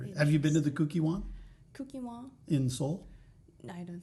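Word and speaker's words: Kukkiwon: It's just I just heard it's cookie something. So cookie. Kukiwon.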